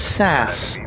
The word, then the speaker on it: SAS: they also said that SAS is pronounced sass which I refuse to